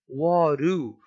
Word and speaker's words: what do you: Na pronúncia, ele falou waru, uru. No caso aqui, o do, ele soa como um uru.